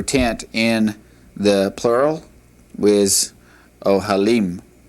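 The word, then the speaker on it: אהלים: All right, the word for tent is ohel, ohel, and the word for tent in the plural is ohalim, ohalim.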